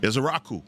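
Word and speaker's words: Ezeiruaku: Ezrau. Israaku. Donovan Ezrau. Usually that's Bill's job, but thank is a Raku.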